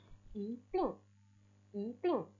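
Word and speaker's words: 一定: Namun apabila ditempatkan di depan kata bernada keempat, diucapkan sebagai nada kedua. Jika nada di aksara di belakangnya adalah nada keempat, misalkan kita lihat contohnya I ting, artinya pasti. Ting, nada keempat. Jadi I diganti menjadi nada 2.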